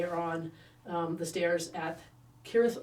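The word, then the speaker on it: Cirith Ungol: They're heading onto Smeagol's lair, and they are on the stairs at Corinth Ungol, which apparently I pronounce it with a hard C.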